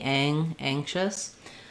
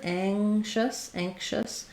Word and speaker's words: anxious: Letter X in this word, anxious, can have a K sound. It can be anxious, or just anxious, depending on pronunciation. So we naturally go to that SH sound, anxious, and we end up with a little bit of I think we do kind of say that K sound, anxious.